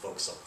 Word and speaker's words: fo'c'sle: Sometimes you'll see Foxel written one of these ways, It looks like forecastle, but it's pronounced fo'c'sle.